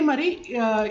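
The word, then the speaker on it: má: இப்போ இதே மாதிரி இந்த மாக்கு மேலே இப்போ இந்த இது நான் செகண்ட் டோன் ஏற்றி போட்டிருக்கேன்.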